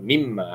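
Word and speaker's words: مِمَّا: Atau baca je mimma, asalnya minma. Minma asalnya. Apabila digabungkan dia ejaan dia jadi gini. Mimma.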